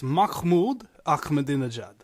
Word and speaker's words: Mahmoud Ahmadinejad: It's Mahmoud Ahmadinejad. Mahmoud. Yeah, right. Like how in Yiddish, Jewish and stuff, there's a vowel sound called. Like you're about to spit on somebody, right. Mahmoud Ahmadinejad, and that's how it's pronounced.